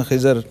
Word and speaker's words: خضر: علماء نے اس کو، ہم اردو میں خضر بولتے ہیں عام طور پہ، تو صحیح اس کا تلفظ خضر ہے۔ سیدنا خضر علیہ الصلوۃ